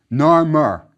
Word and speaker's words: Narmer: The one on top is a catfish, which was pronounced nar in ancient Egyptian. Beneath it is a chisel, pronounced mer, nar-mer. That's how the first king's name was pronounced.